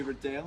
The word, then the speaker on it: Riddell: That's right, I did say Riddell, and it's not because I'm terrible at my job.